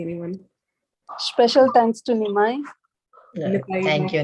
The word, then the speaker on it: Nitai: Nitai. Thank you, Nimai. And You mean Nitai? sorry, Nitai.